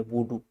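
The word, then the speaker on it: voodoo: विद्या का नाम है वडू वडू अगर मैं अंग्रेजी ट्रांस में वो करूं अंग्रेजी स्पेलिंग स्पेल आउट करूं आपको तो वडू we double O D double O ऐसा वुडू बोल सकते हैं वुडू तंत्र इसको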